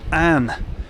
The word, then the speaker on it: Avon: The word Avon is pronounced differently in the old Scottish Gaelic language. There it can be pronounced Ann, which is why you